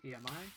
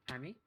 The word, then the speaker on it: EMI: heard it by now it's the free letters emi but i am not a cat you can call it whatever you want if you want to pronounce it ami uh that's fine but just know that is